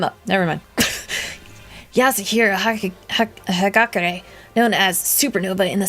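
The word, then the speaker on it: Hagakure: Hagakur. That's how you pronounce that.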